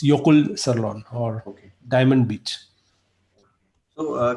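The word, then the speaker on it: Jökulsárlón: J is silent. Jokul Sirlon if you spell it with without that accent, but it's Yokul Sirlon or Okay.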